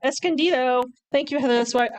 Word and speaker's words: Escondido: Escondido. Escondido.